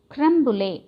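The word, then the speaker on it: crème brûlée: Creme brulee pronunciation is, see here, creme brulee.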